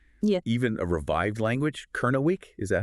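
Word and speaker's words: Kernewek: Kernawick, is that how you say it? Kernawick, yeah.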